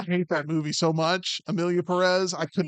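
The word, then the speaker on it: Emilia Pérez: content but to also disgrace you for putting Emily Perez no for absolving me from my mispronunciation I should have worked on it like everybody at the Golden Globes last night that is correct Amilia Perez you sound like Andy Kaufman when you do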